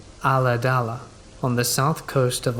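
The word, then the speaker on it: Ulladulla: i was about 10 years old at the time we lived in a small rural town pronounced a la dala on the south coast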